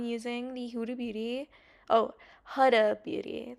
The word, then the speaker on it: Huda Beauty: Oh, Huda Beauty. That's how you actually say her name. But it's like such a common, like, it's such a habit to say Huda. But it's Huda Beauty.